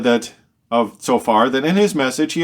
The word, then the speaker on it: Zophar: But now the third friend, Tsophar, the Naamathite, speaks up. And Tsophar, even though it's spelled with a Z, we could spell it with a Tsophar.